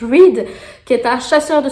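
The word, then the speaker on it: Reid: Reed, R-E-I-D, Reed, je crois que ça se prononce. Reed, qui est un chasseur de sorcières et je crois qu'il va y avoir une romance entre les deux.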